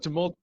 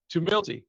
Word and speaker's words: Tumulty: Scott Tumult, I always get his name wrong. Tumulty. Did I get that right this time? It's Scott Tumulty.